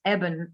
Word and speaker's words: Eben: evening with evan alexander he has put us straight on the pronunciation of his name it's evan alexander because i i got that wrong in the beginning um we do have